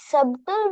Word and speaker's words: subtle: Sir, Yes, the pronunciation of the second part of the body is subtle body, right? subtle. The B is silent. Subtle. Subtle body.